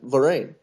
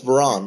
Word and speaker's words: Varane: want albiol ramos and lorraine i mean is that how you say it's his name i'm sorry it's varane right yes yeah for rain it's fine at least